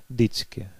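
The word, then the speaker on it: vždycky: «Вждицки» – всегда «дицки». «Вждицки» – «дицки».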